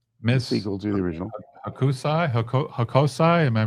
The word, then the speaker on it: Hokusai: Akusai Hako- Hakosai? Am I pronouncing that right? Hakasi? Miss Hakasi? Hokusai.